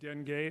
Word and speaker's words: Dengue: what is it you done gay all right that's the French pronunciation right okay and two